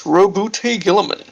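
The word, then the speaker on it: Roboute Guilliman: But yeah, how you pronounce it is Robute Gilliman, also known as the Avenging Sun.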